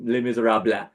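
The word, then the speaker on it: Les Misérables: cracked me up every time he was saying lay miz Rob it's like it's lay miz Rob buddy lay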